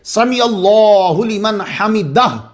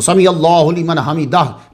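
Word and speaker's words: سمع الله لمن حمده: समी अल्लाहु लिमन हमिदाह, तो प्लीज़ ख्याल रखा करें, क्योंकि कुछ उलमा के नज़दीक उसकी नमाज होती ही नहीं है जो दाह हा को प्रोनाउंस नहीं कर रहा वहां।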